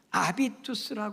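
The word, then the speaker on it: habitus: 삶이 되셔야 합니다요네 번째는 아비투스 하는 단어인데요 영어 발음은 비스라 하기도 하는데 원래 불란서 말이에요 아비투스 하는 발음을 한다는데요이이 아비투스 하는 단어는 어떤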